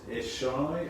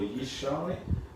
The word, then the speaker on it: Yishai: Jesse's name is also known as Eshai or Yishai. In Hebrew it's spelled Y-I-S-H-A-I.